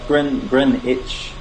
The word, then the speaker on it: Greenwich: Yeah, Greenwich. The W is silent.